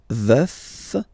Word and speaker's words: veuf: Je suis veuf. Veuf, so remember to pronounce the final F.